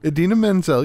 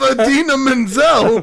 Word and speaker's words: Idina Menzel: than a Dean Menzel Edina I can't do it what's her name Idina Menzel you said it right yeah Ariana I just